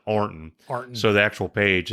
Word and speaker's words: Ironton: Like you got Arnton, you're supposed to be Ironton is a town in Ohio. Okay. You know that. Right. Everybody pronounces it Arnton.